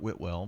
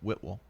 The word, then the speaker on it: Whitwell: It's not Whitwell, but Whitwell.